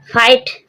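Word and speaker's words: fight: फाइट, फाइट means युद्ध, जी silent है।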